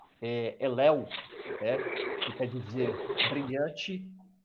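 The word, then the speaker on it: הֵילֵל: É uma tradução do hebraico que se pronuncia Elel, né?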